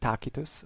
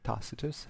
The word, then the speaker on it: Tacitus: on an occasion by takus or tacitus as you want to call him I remember you at the beginning of the video that I um usually pronounce the Latin names in in two ways that are respectively in order in uh in order uh of uh of time the uh PR the the restit pronunciation and the ecclesiastical one so it's not that